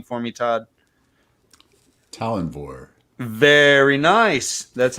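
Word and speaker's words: Tallanvor: head of them he is t-a-l-l-a-n-v-o can you pronounce this name for me todd talonvor very nice that's how i refer to him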